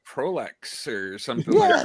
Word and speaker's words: Proulx: There you go, Proulx, Proul Jr., ladies and that gentlemen. So Hello, to the show. How are you? Yeah, thank you so much. I was going to be like Proulx or something.